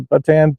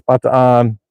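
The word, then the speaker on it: Bataan: trail and I said oh this is the batan death march Trail they're like the what I said the batan death march Trail no no it's not pronounced batan it's B on so I got corrected very quickly on that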